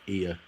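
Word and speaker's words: Oia: This is pronounced Ia.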